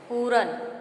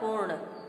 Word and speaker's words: पूर्ण: पूरन, इसका सही उच्चारण होगा पूर्ण।